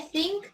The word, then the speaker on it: think: Acuérdense que think es la pronunciación donde ustedes sacan la lengua, ¿sí?